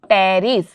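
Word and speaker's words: Pteris: मतलब यहां पर है टेरिस पी साइलेंट इधर टेरिस और ई का यहां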